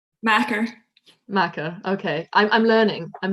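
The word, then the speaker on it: makar: And yeah, let's not forget the Scots word for poet is, and I have no idea how to pronounce this, Macar? Macker.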